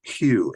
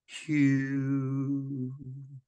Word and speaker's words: HU: of God very ancient name of God it's Hugh h-u and it's it's pronounced Q so it's like a mantra but it's something